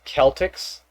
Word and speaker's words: Celtic: It's Celtics. Oh, Celtic. So hard C. No cha. No sir C.